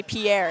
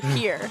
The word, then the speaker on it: Pierre: He tells everyone that we should say Pierre, and then he gets on today's broadcast, and I was shocked to hear him say Pierre.